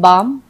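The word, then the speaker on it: balm: कि GUAR guard, BAL बाम, PALM पाम, इन सब में L जो है वो साइलेंट है, गार्ड में U साइलेंट है, L बाम में हम L बालम नहीं पढ़ते, हम बाम बोलते हैं, इसको हम पालम नहीं पाम पढ़ते हैं।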